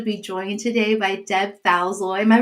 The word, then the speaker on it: Falzoi: I'm thrilled to be joined today by Deb Thozy. Am I pronouncing your name right, Deb? Yeah. Yep. Thousoy.